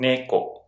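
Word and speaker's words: 猫: I use iNU(dog) and NEko (cat) to help me remember. iNU is the same low-high pattern. and NEko is the same High-low pattern.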